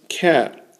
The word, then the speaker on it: ket: direct cat Vector now notice cat is the second syllable of bracket there's also going to